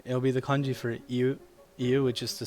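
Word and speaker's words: 言う: But that can also be pronounced colloquially as you instead of iu. Because iu is a little bit hard to say, but like we can like mesh it together phonetically to say you.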